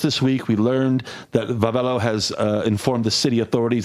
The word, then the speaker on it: Wavelo: We learned that the bikes branded under the name, it looks like Wavelo. It's pronounced Vavelo for some reason, but it looks like Wavelo to me.